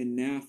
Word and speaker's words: enough: Así vamos a colocar este enough acá. La pronunciación final es como una F, enough.